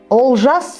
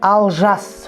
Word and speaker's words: Олжас: Букву О в казахском языке нужно произносить как букву О. Например, Олжас Сүлейменов. Русскоязычные говорят Алжас Сүлейменов, да?